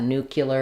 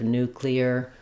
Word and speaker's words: nuclear: Um people will mispronounce that nuclear instead of nuclear.